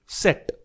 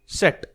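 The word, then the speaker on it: Zett: व अब ये थोड़ा सा ट्रिकी है फ्रेंड्स व को हम बोलते हैं एप्सलोलॉन या फिर युप्सिलॉन एप्सलोलॉन या युप्सिलॉन और नीचे है जेड लास्ट अल्फाबेट इसको हम प्रोनाउंस करते हैं सेट सेट।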